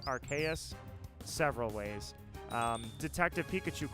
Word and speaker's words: Arceus: arceus the pronunciation is archaeous or arceus the reason it's archaeous is because to me it's archangel archaeous it literally comes